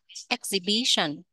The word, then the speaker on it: exhibition: triển lãm exhibition exhibition các bạn lưu ý cái trọng âm nhé exhibition nhấn âm thứ ba fascinating fascinating nhn fascinating